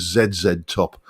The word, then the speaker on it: ZZ Top: Um, you know, in my UK English brain, I pronounced it as Zed Top.